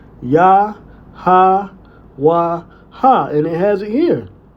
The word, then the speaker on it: Yahawah: ya ha wa ha and it has it here. So a historically plausible pronunciation using only the consonants plus the natural a sounds would be ya ha wa ha. This preserves the co the consonental skeleton.